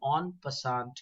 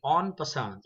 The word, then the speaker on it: en passant: It's the en passant. It's incorrect to say en passant. It has a French origin and the spelling is ENPASSANT.